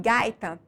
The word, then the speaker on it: gaita: bem E aí e em gaita a sílaba mais forte é a penúltima sílaba da palavra Guy portanto paroxítona em açoite a sílaba